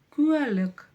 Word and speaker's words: куәлік: Слово куэлек. Куэлек. Куэлек. Сначала видим обычную букву У, то есть как пишется, так и читается.